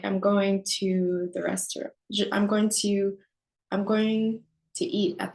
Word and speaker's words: restaurant: Au restaurant, there's a T at the end of restaurant, but it's silent.